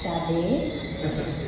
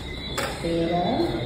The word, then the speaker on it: Sada: Before I start, despite how it may be spelled, my name is actually pronounced Sade, not Sada.